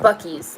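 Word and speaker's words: Buc-ee's: It's pronounced Bucky's. Okay, sorry.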